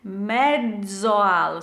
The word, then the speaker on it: mezzo al: Mezzoal, so the double Z in Italian is a DZ sound.